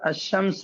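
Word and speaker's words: الشمس: अल कमर में लाम पढ़ा जा रहा है और अशम्स में लाम नहीं पढ़ा जा रहा है। अलिफ को क्या कर रहे हैं? डायरेक्ट शी के साथ मिला दे रहे हैं। लाम को साइलेंट कर दे रहे हैं। अशमसु इस तरह जी।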